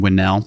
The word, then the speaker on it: Winell: how do you say your last name Marlene winnell winnell um and like learning about stuff like